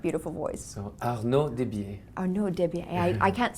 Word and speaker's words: Arnaud Desbiez: So please pronounce your name in that beautiful voice. So, Arnaud Desbiez. Arnaud Desbiez.